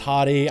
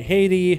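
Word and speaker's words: Hati: Like, for example, the pet Hottie, and yes, it is Hottie. I've had people tell me Haiti, Hottie. Maybe it's one of those things that's a tomato, but we are gonna go with the pronunciation that they actually use in-game, courtesy of Noble.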